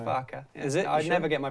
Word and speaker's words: Farke: farker is that right was it not far is it not just far was definitely Farka I never get my